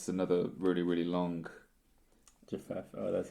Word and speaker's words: Japheth: Japheth, oh, that's how you say it.